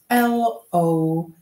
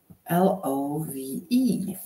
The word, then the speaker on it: love: L-O-V-E. L-O-V-E. That's the word love, láska. Pozor na to, často se stává, že tam máme tendenci vyslovovat o. Jo, love, ale není to love, je to love, je to love.